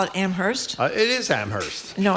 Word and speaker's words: Amherst: Well, the textures are taking It is Amherst. It is not Ammerst. It is not Ammerst. Is it Ammerst? It's Ammerst. Ammerst. Well, okay. Did you call it Amherst?